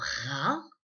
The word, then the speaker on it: rat: Maintenant, pour rat, eh bien, c'est comme la syllabe rat, donc un R et un A, mais on a à la fin une lettre muette.